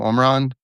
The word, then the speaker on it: Omran: your piece with a story of Omran. Is that how you pronounce his name? Omran. Uh it is.